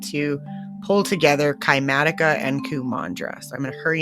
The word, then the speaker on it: Kumandra: Mandra sounds like mantra and mudra mixed together. So Q mantra Q mudra like anyway I thought it was really interesting to see how the place was called Kumandra and that was the